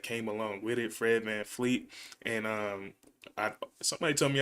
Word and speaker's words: VanVleet: along with it, Fred VanVleet, and somebody told me how to say his name. It's not Fred VanVleet, but it's just Fred Van. There's no L in it, so Fred VanVleet.